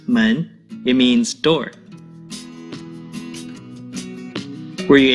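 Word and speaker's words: 门: of the most commonly used chinese characters it's pronounced men it means dor were you able to find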